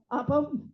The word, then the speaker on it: Apo: And we weren't, is that the correct way to say it? Apo, okay.